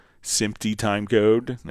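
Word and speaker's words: SMPTE: would have uh like SIMY time code and it's spelled SMPT for Society of Motion Picture and Television Engineers. It's a professional organization for standards. Um so in simp time code would send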